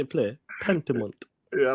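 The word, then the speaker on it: Pentiment: __ ] bro okay pentament that's it that's how you say it play pentament yeah I like the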